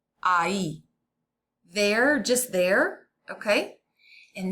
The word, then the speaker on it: ahí: And notice the H is silent, so it's a, I, ahí.